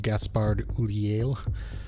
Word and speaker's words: Gaspard Ulliel: I believe it's pronounced Gaspard Ulliel.